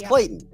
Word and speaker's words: Clayton: past first second third grade if you can't pronounce the word Clayton it's Clayton yeah I heard not Clayton or words like